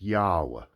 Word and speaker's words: Yahweh: And the name is pronounced Yahweh, but it's to do with your breath, the breath of life.